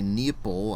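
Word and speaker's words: Neople: this was developed by nepple I guess that's how you pronounce it it's spelled like people but with an N at the beginning and it was published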